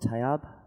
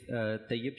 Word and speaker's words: Tayyab: So, over here in the middle, let me introduce, I'm going to get your name wrong, Tayyab? Is that correct? Yep, Tayyab.